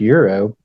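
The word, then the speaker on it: gyro: whatever guo Euro gyo I think it's pronounced Euro that's what I've always heard I don't know it starts with a g but I guess the G is supposed to be silent I don't know yeah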